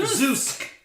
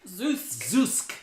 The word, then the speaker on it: Zoosk: Zoosk. Zoosk. Z-O-O-S-K for those of you who can't understand what we're saying. Right? So, spell that one more time. Z-O-O-S-K. Right? Zoosk.